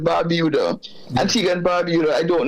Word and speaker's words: Barbuda: And so when we look at it from that perspective, I don't know if Antiga and Barbuda, we pronounce it Barbuda, Antiga and Barbuda.